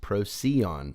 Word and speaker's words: Procyon: It's pronounced Procyon. Oh, Procyon. Procyon. Okay. It's from ancient Greek, means before the dog.